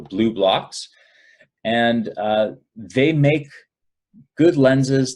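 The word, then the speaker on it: BluBlox: blue blocks with and it's spelled BL u BL o X so blue blocks and they make good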